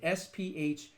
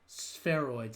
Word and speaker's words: spheroids: Replication of that damage using human cardiac spheroids, not like, I can't pronounce it, spheroids, spheroids, like a sphere, lab-grown heart-like tissue that beats rhythmically.